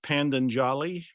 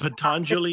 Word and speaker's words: Patanjali: Is it pronounced Pandanjali? Pandit, yeah, Rajmani Chiganayat, yeah, or Patanjali. That's who you're talking about. Yes, he's Patanjali, is that the correct Patanjali.